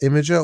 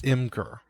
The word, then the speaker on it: Imgur: Is it pronounced Imager or Imgur? I think it's Imgur. Imgur.